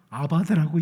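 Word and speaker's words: אבד: 이 멸한다는 단어도 아바드라고 읽습니다. 철자는 다른데 아바드라고 읽는 건 똑같아요.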